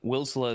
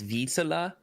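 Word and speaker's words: Wisła: the other match uh apparently wilsa is not how you pronounce it it's Visa kind of like Tessa Visa I don't know how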